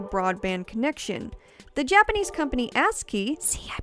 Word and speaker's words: ASCII: online with a broadband connection the japanese company ascii see i pronounced it correctly this time guys even created